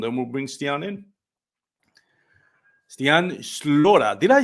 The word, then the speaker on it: Stian Slora: Stian Slora. Did I say it right? Slora?